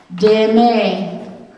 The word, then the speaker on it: demen: Demen, those should have the accent mark going to the right, so you pronounce them the long sound.